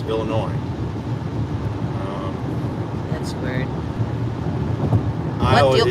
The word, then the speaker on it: Illinois: it's not illinois uh the s is silent there too it's illinois um that's weird what